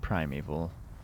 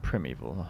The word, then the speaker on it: primeval: I'm told it's pronounced Primeval. I've always said Primeval, I don't know why.